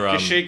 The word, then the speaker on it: Kashyyyk: Kashyyyk, I nailed it. Yeah. Spelt with 3 Y's.